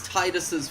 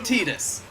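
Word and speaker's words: Tidus: By the way, yes, I pronounce it Titus. I fucking refuse to call him Titus. No, I call him Titus I- too because I think of like ocean tides.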